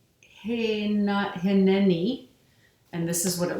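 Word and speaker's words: הִנֵּנִי: a Hebrew sign, and it's pronounced, that means here I am, like as God, here I am with you. Pronounced Hineni.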